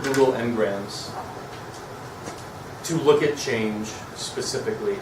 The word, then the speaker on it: Ngrams: So Google Ngrams, that's how you pronounce it.